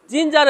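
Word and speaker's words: ginger: জিঞ্জার এই ওয়ার্ডের মধ্যে জি আই এন জি ই আর। জিঞ্জার এই ওয়ার্ডের মধ্যে জির পরে কি আছে, আই আছে, এজন্য জির উচ্চারণ বর্গের জয়ের মতো হয়েছে।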